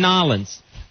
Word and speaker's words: New Orleans: Like the Super Bowl's going to be in Nolens. Yeah, that's right. The people who live there call it Nolens. Mm-hmm. Instead of New Orleans.